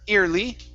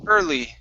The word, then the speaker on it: early: have the word early instead of ear early it's ER early early okay one more time